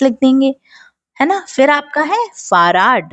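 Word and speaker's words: Fahrrad: फिर आपके पास फहर्राड है। फर्राद, है ना? इसका उच्चारण ठीक वैसे ही करें जैसे यह लिखा है।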